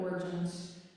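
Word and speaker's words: Origen: I would look up origin it's spelled like origin o r i g e n that's how spell name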